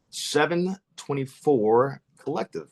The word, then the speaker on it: Seven24 Collective: Yeah, just just like it's spelled. Uh, but I'll spell it for you. That's s e v n 24 c o l l e c t i v e. That's 724 collective.